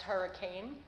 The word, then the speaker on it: Her I Can: her I can pronounced hurricane but it's her I can and our mission is